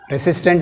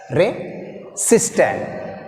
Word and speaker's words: resistant: Resistant లో systant second part, second syllable. Re is weak prefix, already told. Resistant. This is second one, this is first one. So here second syllable take stress.